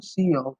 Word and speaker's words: cout: The identifier C out pronounced C out is predefined object that represents the standard output stream in C++.